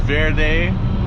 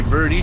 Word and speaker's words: Verde: runs right through here it's actually pronounced Verde but all of us Gringos say Verdi so you would get